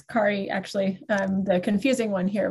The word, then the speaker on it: Kari: It's Kari, actually. The confusing one here with the differently pronounced name.